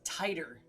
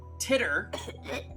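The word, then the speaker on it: Titor: Teter is pronounced tighter. Oh, really? John Tider. Okay, I can do that. It's better. My My initial reading of it was titter. Uh, which that I was suggested to say teeter, but tighter we can do.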